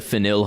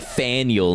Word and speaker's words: Faneuil: It's pronounced like Daniel with an F.